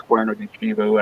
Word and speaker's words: Cuerno de Chivo: So do you know what Cuerno de Chivo is? Or however you say that? You said it right. It's Cuerno de Chivo.